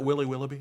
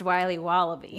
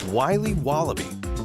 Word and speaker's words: Wiley Wallaby: Can I have a piece of that Willy Willoughby? Wally Wibbly. Wiley's Wallabies. Wallaby Wallies? Wilby Wababy? It's pronounced Wiley Wallaby. Well, it's very good. It's called Wiley Wallaby, and it's delicious.